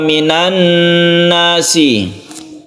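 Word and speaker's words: وَمِنَ النَّاسِ: sebut Idgham Syamsiah tapi cara membacanya sama dengan guna musyadadah yaitu membacanya itu guna atau didengungkan WA minannas kemudian Nun bertemu dengan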